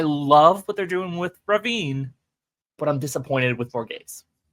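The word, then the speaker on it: Rhavin: And so I love what they're doing with Ravine, but I'm disappointed with Gays. And I appreciate you saying Ravine, which is how we know the name should be.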